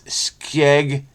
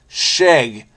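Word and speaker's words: skjegg: Sheg. Oh, here we go. The Norwegian. I was right about this. Sheg. I said skeg. Sheg. Is in English.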